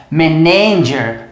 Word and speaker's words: manager: tônica do local correto muita gente fala isso aqui como e nem gere manager mas a verdade é manager ó manager o que significa